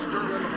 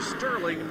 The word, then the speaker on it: Sterling: or not to G Sterling says that you don't pronounce the G you don't put the